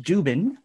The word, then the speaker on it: Dziuban: Dziuban, pronounced Dziuban, is an author, lecturer on spirituality and consciousness.